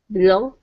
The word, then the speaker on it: below: Okay, put the stress on the end of the word below. Below.